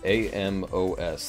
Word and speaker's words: amaze1314: got amaze1314 who said try and say my name amos that's how you say it so i'm assuming that's that's just amos we got the medical